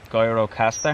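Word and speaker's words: Gjirokastër: next spot we're going to a place called guyrocaster is that who you say that's how you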